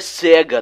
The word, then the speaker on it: Sega: fiz alguma coisa errada a pronúncia certo é cega Ted podemos fazer de